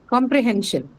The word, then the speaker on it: comprehension: And hen should be the one that's stressed.